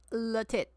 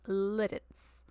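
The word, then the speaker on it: Lititz: But this town is pronounced Litz, not Latit. It's called Littitz.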